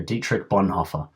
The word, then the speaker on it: Dietrich Bonhoeffer: A Year with, I'm going to say his name wrong, Dietrich Bonhoeffer. There you go, Dietrich Bonhoeffer.